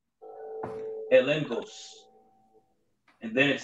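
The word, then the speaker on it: ἔλεγχος: When you go to the word evidence in the Greek, it's pronounced elengos.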